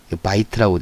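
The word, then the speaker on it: בית: 자, 요거는 선은 다 아 발음을 하기로 했기 때문에 바, 비읍 음가의 바, 요드는 음가가 이응이고요. 자음이. 그 다음 밑에 히렉이라고 하는 점 하나는 이 모음이라 바이 타부의 티귿과 모음이었기 때문에 으 발음을 해서 바이트.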